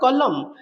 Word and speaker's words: column: 71 70 एठी अछि which letter is silent in the word column हमें m तक ही प्रोनाउंसिएशन हो एंड साइलेंट रहि जाय आपनकर डी हे जो